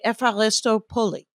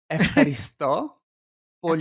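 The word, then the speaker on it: Ευχαριστώ πολύ: Epharisto Poli. Epharisto Poli. Oh, accent on a different syllable.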